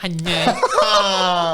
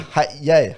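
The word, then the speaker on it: Hat Yai: kan ada dengung kan macam mana kau sebut H Yai kau sebut hanyai Hanai HY Apa sebutan sebenar dia H Yai H Yai kan orang Thailand Sebut apa ada punya ejaan h a t y a i h Yai sebutan dia H Yai hanyai hanyai kau sebut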